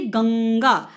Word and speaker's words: गंगा: अब आप उच्चारण कीजिए गंगा, अंग की साउंड निकली, गंग।